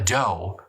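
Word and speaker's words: dhow: toward them carrying around 100 armed men a doe which is spelled d-h-o-w by the way is simply a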